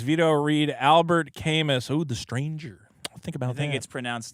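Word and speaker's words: Camus: good uh for two he says guaranteed veto mispronounces cus or c it's cus cus The Stranger yeah the author of The Stranger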